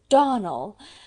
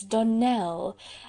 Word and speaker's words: Donnell: "Clarissa Almira told me that you pronounce our name Donnell. Now, Miss Shirley, the correct pronunciation of our name is Donnell, accent on the last syllable.